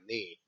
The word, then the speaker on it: Nny: He goes by NNY, knee, pronounced the same way as the KNEE.